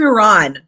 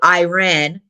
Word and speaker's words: Iran: it's And then the second question is how can you say you're not racist when, first of all, you're pronouncing it Iran when the correct pronunciation is Iran, on.